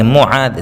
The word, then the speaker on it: معاذ: مصعب، منیب۔ میمون، معاذ، ذال سے ہے، معاذ، صحیح لفظ جو ہے معاذ ہے، حالانکہ معاذ بولتے ہیں لوگ، وہ لفظ الگ ہو جاوے گا، وہ بھی رکھ سکتے ہیں، لیکن صحیح جو لفظ ہے صحابی کا جو نام ہے وہ معاذ ہے۔ محمد ہمارے نبی صلی